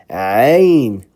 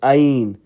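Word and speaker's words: ع: ta, ya, fa, kaf, ain. Please make sure you pronounce this right, not ain, ain. No, ain, ain, ain. This one comes from the middle of the throat.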